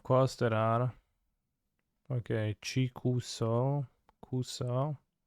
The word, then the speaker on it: kuso: there are okay chicuso kuso the both of them are Kusa the U is silent jigsaw Excel you're going